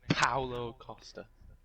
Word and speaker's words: Paulo Costa: His name is Paulo Costa.